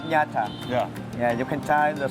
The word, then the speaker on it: Nha Trang: Now, how do you pronounce this area? Nha Trang.